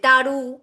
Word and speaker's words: Tarot: করে বহু নাম আছে টারু ঠিক আছে টারেস লাস্ট পর্যন্ত কি এসেছে টারো টি সাইলেন্ট থাকে ট্যারোড বলবো না টারো ঠিক আছে সাইলেন্ট থাকে